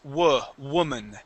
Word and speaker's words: woman: Yes, and the other one is woman, okay?